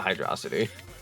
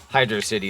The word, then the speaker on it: Hydro City: Some people say hydro city. I called it Hydroity, but it also technically doesn't make sense cuz it does spell out Hydro City apparently. Apparently Hydro City is the proper way to say it.